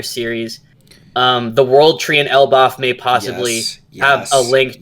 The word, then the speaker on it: Elbaf: Is it Elbaf? Elbaf, yeah. Okay, so they're going to go to Elbaf, maybe quick trip, because they've been talking about Elbaf the entire series. The World Tree in Elbaf may possibly have a link to the final poneglyph.